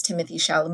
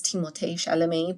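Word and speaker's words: Timothée Chalamet: all right so apparently the correct way to pronounce Timothy Shalom is timot shalam but he himself is like obviously I don't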